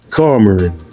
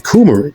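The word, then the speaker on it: coumarin: Carin I ain't even saying it right. Cumarin that's cumarin. Kumarin.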